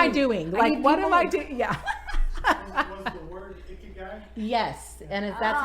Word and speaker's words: ikigai: Was the word ikigai? Yes. And if that's how you say it, ikigai.